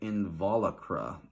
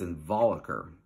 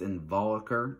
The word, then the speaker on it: involucre: I think some people will say like involucile or involucra, but it's involucre and involucile, okay?